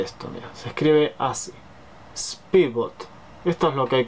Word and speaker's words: Spybot: Y voy a Speedbot.